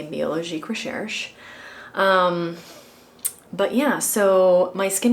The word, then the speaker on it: Biologique Recherche: I know I've been saying it wrong this whole time, so I'm going to correct myself and say Biologique Recherche.